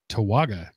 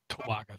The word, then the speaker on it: Towaga: How would you pronounce this again, Mark? Towaga. Towaga.